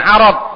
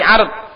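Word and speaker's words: عَرْض: Jangan arad tapi ard. Dan juga ainnya di fathah. Ardun artinya tawaran menawari.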